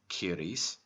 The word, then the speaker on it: Ceres: woman and called her Mother Ceres, pronounced Kyries in Irish, a name which was later accredited to the goddess who was transferred to Greece by the plagiarists.